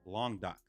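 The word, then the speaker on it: Languedoc: France and it is long dock long doc that's how you say it okay long dot um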